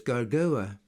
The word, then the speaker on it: Gergovia: and the fact that the V in Gergovia should be pronounced as a U and read as Gargoa.